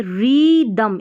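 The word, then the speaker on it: rhythm: और फिर यहाँ पर आ जाए रिदम, इसको रिदम पढ़ना है। रिदम क्यों पढ़ा है, जब भी आर एच साथ में रहता है ना तो एच साइलेंट रहता है, रिदम, रिदम इस तरीके, रिदम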